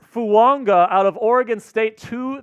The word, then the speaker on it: Fuaga: So all of the pronunciation guides say Fuaga. Taliesin Fuaga. Yeah, Taliesin. And then at a Senior Bowl interview, he's like, no, it's Talise Fuanga. Like how Tua Tagovailoa has the invisible it's Samoan.